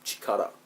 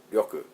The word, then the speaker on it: 力: And ryoku, normally by itself this kanji means power, and it's chikara. Chikara it's pronounced, and they say that in Dragon Ball a lot. But as a suffix, connected with another word as a suffix, it's pronounced ryoku.